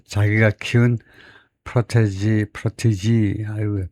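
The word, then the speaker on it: protégé: 심지어 자기 자신을 키운 자기 자 자기가 키운 프로테지 프로티지 아유 발음을 발음 때문에 그걸 찾아봐야 되겠습니다. 모르면 뭐 할 수가 없죠. 자식이 찾아야 되는데요.에 그래서 바로 엑센트가 앞에 음전네. 앞에 음절의 이름절에 프라티지 프라티지라고 발음을 해야 되겠네.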